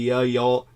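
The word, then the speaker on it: Yeol: suck you all uh y-e-o-l pronounced kind of like the y'all y'all the way uh Brooke would pronounce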